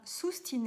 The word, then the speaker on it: sustine: célèbre, est en latin sustine et abstine. Ça s'écrit S-U-S-T-I-N-E, sustine, S-U-S-T-I-N-E, et abstine, comme abstinence, A-B-S-T-I-N-E.